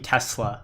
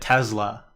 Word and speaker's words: Tesla: I'm a team Tesla with a S, not a Z. But I think Elon pronounces it Tesla often. I think I've heard him say that.